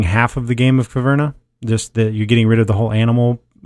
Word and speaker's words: Caverna: It's Caverna. Caverna. The cave versus cave.